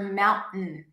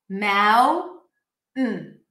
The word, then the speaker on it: mountain: So you can use a glottal stop for mountain, okay? So instead of releasing it through the nose, mountain, that was through the nose, you can use a glottal stop. Mountain. Mountain. So you basically say mound, you keep the tongue up, and then you just say mountain.